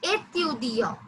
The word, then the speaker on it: étudiant: And example is étudiant. Étudiant, which means a student. Étudiant is a student. Yes. The pronunciation is A. A. A.